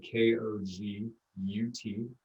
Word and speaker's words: Kogut: it's called and my last name is spelled k-o-g-u-t kogut uh it's polish i can thank my uh polish uh ancestors for that unique last name and then um yeah